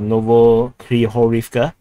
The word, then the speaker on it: Novohryhorivka: So in Russian they actually pronounce H as G, so Novohryhorivka or Novohryhorivka, or whatever you want to call it.